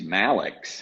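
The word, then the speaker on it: Mallex: And the fact that his name's Malix, how cool is that? Malix. Sounds like something out of a futuristic. On Pretty his much. baseball reference, it says, it rhymes with Alex.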